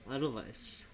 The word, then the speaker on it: Edelweiss: I was corrected by pronunciation. Edelweiss.